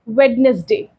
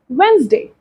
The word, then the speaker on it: Wednesday: example some people say wedness Day Some people say wedes Day Some people say Wednesday so which is the right pronunciation the third one is